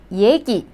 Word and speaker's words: 얘기: So simply the first syllable is 예. And then 그 and 이 sound. So the second syllable is 기. So 얘기.